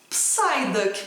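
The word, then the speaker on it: Psyduck: gente precisa lembrar que essas palavras derivadas do grego que foram para o inglês que começam com p e s nós não pronunciamos o que é o caso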